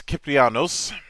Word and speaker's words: Kyprianos: theater of Epic the one and only kyanos how you doing today man I'm fine how are you thanks for pronouncing my name right yes that's nice that's